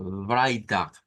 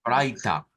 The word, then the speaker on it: Freitag: Ahora digamos Freitag, que se escucha más el Freitag, Freitag, con F, vea.